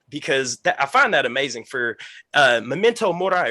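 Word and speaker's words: Memento Mori: find that amazing for memento morai right is how you say it okay awesome but to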